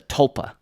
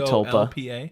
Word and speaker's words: tulpa: Slenderman would be a tulpa I don't know how to spell it tulpa tulpa so you're saying it sounds like there's an L in there I think there's